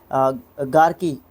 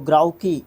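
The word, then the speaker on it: grouchy: इसका root word है गार्की गार्की इसको ग्राउ की इसको प्रोनाउंस करते हैं इसका भी कहीं ना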